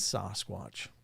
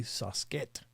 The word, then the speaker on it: Sasquatch: It is Sasquatch. That's how you say it. It would be Sasket if you went to the actual Salish words, but it's close.